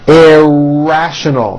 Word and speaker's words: irrational: Irrational, 4 syllables with a very strong R. Irrational.